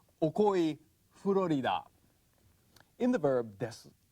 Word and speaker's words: です: Spelled desu, but pronounced des. Actually, when Japanese are speaking slowly or emphatically like this, they would say desu. But when they're speaking normally, the U sound is so weak, it tends to get lost.